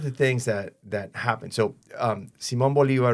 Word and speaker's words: Simón Bolívar: So Simón Bolívar, or Simon Bolivar, is it's pronounced in English.